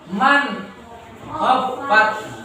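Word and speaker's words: من خفت: Kemudian bertemu dengan kha. Man khaffat. Tetap ya. Man khaffat. Nah, man khaffat, begitu cara membacanya.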